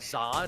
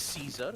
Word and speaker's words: Caesar: And I just realized it's just not Czar, it's Caesar.